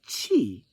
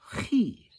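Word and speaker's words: chai: Hebrew word for life is not Chi it's he right but in modern understanding is spelled c-h-a-i in English letters so honey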